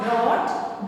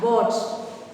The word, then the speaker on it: bought: It is not brought. B-O-U-G-S-T. It is pronounced as bought.